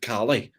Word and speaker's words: Callie: So in my head, even though I knew I needed to pronounce it Callie because it's two completely different names, I kept calling her Kelly throughout the entire interview.